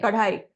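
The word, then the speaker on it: kadai: but it's pronounced C you say card high card high so that's going to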